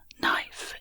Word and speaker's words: knife: Knife is an example of aphaeresis. In Old and Middle English, the initial K sound was pronounced. This was gradually lost, leaving the modern pronunciation knife.